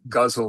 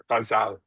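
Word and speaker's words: ghazal: South Asia um as guzzle but the Persian I learned it from the Persian pronunciation it's called in and in Persian it's pronounced gazal.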